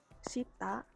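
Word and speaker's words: 下: Selanjutnya ada kanji shita atau sa, ge, ka. Kalau berdiri sendiri itu artinya dibacanya shita, bawah, lawan katanya uwe ya berarti. Lalu kalau ditambah garu, itu bacanya sagaru, artinya turun. lalu ada joge, atas bawah,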